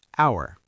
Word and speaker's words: hour: He waited for blank hour. An hour vowel sound after silent h.